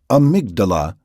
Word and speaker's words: amygdala: A tiny brain structure called the amygdala, pronounced amygdala, keeps track of experiences that trigger strong emotions.